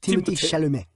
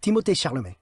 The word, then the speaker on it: Timothée Chalamet: Apparently, I've heard him pronounce it in interviews. Timothée Chalamet. Ugh, I don't Timothée. Like that. Timothée Chalamet.